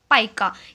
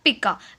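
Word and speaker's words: pica: उसे हम कहते हैं पाइका या पिका। वो आपके प्रोनाउंसिएशन पे डिपेंड करता है, what you can sound the पिका और पाइका, जो भी आप प्रोनाउंसिएशन बोल सकें, पिका या पाइका।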